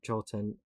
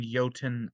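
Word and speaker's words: jötunn: uh yes you're thinking yotan cert yeah yelt insert yeah yeah the the j uh norse terms the j is pronounced like y ah like fjord the author yormangander right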